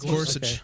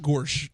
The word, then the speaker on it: Gorsuch: uh Neil gor now I think his last name sounds like what goofy says uh is how do you pronounce his last name yeah somebody clarify this guch yeah Gorsuch Gorsuch G Gorsuch okay all